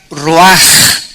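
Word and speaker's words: רוח: Roach que se pronuncia raj la ch en el hebreo se pronuncia como j y que es la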